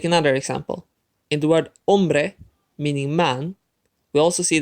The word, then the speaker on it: hombre: in vegan on play the word ends with a vowel which means that the second last syllable is emphasized and in the word hombre it is the second last syllable to emphasize it's the own part so we don't have